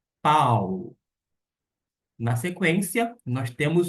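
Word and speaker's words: Παῦλος: Quando encontra-se o alfa e o Y, o som não será de ai, e sim de au, au. Desta maneira, a gente vai pronunciar P com o ditongo que nós temos, que é ao, pau.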